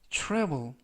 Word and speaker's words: travel: 되고 싶다라는 표현이 되겠습니다 이번 표현은 travel travel travel이라고 발음하시면 되겠고요 이때 유의하 실점은 TR 발음이 true true 그래서 TR이라고 발음하시면 좋겠습니다 품사는 는 동사 뜻은